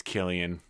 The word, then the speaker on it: Cillian: I thought it was Killian. I need to hear him say it. In the 80s, Alf ran under Marvel Comics. Ah, shit, you're right. It's Killian.